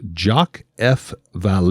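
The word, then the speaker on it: Jacques Vallée: by the name of jock F Val I believe is the way you pronounce it now he wrote a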